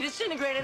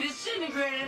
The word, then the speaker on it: disintegrate: Jesus Christ, Doc, you disintegrated Einstein. You disintegrated Einstein. So it's not disintegrate, it's disintegrate. It reduces from 4 to just 3 syllables, and the first T sound disappears.